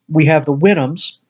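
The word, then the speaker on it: Houyhnhnms: We have the Winhams, and we think that's how their name is supposed to be pronounced. It kind of imitates the sound of a horse.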